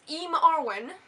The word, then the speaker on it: eamarwen: My username is eamarwen, and it's Elvish for I'm Arwen.